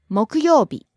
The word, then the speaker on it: 木曜日: 水曜日水曜日 Rising on the second syllable, falling on the second to last syllable. 水曜日 Next, 木曜日 Thursday.